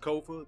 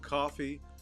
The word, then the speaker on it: Kofa: Again, I'm your host, Kofa. That's Kofa, not coffee, not, not Kofi, or any variation thereof. Kofa rhymes with sofa.